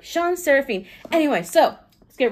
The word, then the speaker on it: Shan Serafin: SHAN SERAFIN.